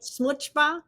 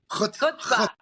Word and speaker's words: chutzpah: So he had smuchba. Is that how you say it? Chutzpah.